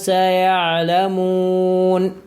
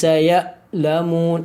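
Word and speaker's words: سيعلمون: സൂറത്തുൽ ഫാത്തിഹയിൽ നമുക്ക് കാണാൻ സാധിക്കും, സിറാത്തല്ലദീന അൻഅംത അലൈഹിം, അൻഅംത അൻഅംത അലൈഹിം, കല്ലാ സയഅലമൂൻ. അവിടെ സയ അല്ല സയഗ് അല്ലെങ്കിൽ സയലമൂൻ അങ്ങനെയൊന്നും ഓതരുത്. കല്ലാ സയഅലമൂൻ.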